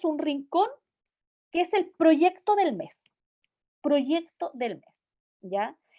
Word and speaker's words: proyecto: Primero, tiene una, no está en sílaba directa, tiene una r después de la imagínate ese sonido, pro, proyecto, tiene una Y que está funcionando como con un sonido y, proyecto.